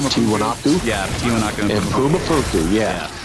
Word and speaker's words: Tiwanaku: He was in that area, and that he visited, I got to pronounce this right, Tiwanaku.